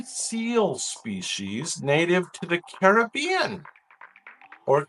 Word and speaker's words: Caribbean: This was the only seal species native to the Caribbean or Caribbean.